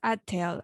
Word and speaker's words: atel: Work is pronounced atel. Atel means work, and ateletic are those who serve the community.